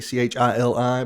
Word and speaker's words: Chili: Yeah, well, it's spelled like chili, Chili, but it is in fact Chili.